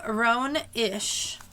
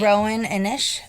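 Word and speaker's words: Roan Inish: It's called The Secret of Rowan Ish. And I think I'm pronouncing that right. Rowan Inish. It's Rowaninish. And it's from 1994.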